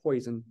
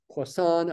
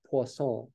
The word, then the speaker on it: Poisson: That's said to have a Poisson distribution, P-O-I-S-S-O-N. There's two S's there, so it's not poison. It's Poisson, or I suppose if we were really trying to be French, it would be something like Poisson, right?